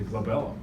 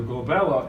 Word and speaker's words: glabella: And it rhymes with my daughter's name, Isabella, and is always on the test because of that.